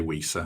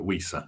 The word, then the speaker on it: Wissa: I should say Wissa. I've spent years saying his name wrong. It's hard to get it out of your head. But Wissa, sorry, Yoane Wissa.